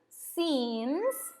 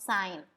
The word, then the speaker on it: since: you can say i have known this person since 2007. the remember the pronunciation is since it is not sign okay it's since now what is the difference